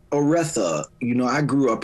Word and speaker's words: Oretha: It's Oretha.